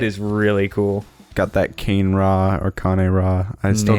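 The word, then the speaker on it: Kane-Ra: Got that Kane Ra or Kane Ra. I still don't know how it's Kane Ra. pronounced. Kanera.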